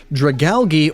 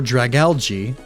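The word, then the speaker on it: Dragalge: Dragali or dragalgy. That one honestly is just up to the ways different people pronounce algae or algae. That's an accent thing.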